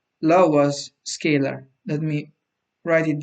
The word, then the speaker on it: Laue: and this is called Laura's scalar. Let me write it down. It's spelled like this: Laue, and it's called Laura's scalar.